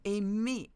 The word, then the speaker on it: aimer: Another E sound is AI, aimer, aimer, to love. So be aware that sometimes you have two letters next to each other, such as AI or EI, pronounce E, or ER pronounce E as well.